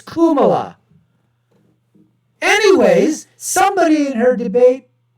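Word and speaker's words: Kamala: oh excuse me folks the Indian way to pronounce it is Kuma anyways somebody in her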